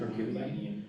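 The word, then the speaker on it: Herculaneum: Hercuanian.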